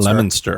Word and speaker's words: Leominster: meet a customer and see if I can pronounce this right Leominster lemon lemon stirrer I think that's healthy it's not how it's spelt but I think that's how they say it just like they call it Worcester but it's spelled Worchester